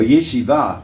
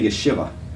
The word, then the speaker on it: yeshiva: They usually accent the last syllable. So when you're taking a Hebrew word into English, it really messes up your speech. Well, we'll say yeshiva, but yeshiva in modern Israeli Hebrew.